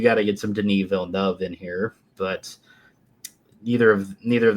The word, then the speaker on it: Villeneuve: The fact that Dennis, how do you pronounce his last name? Villeneuve.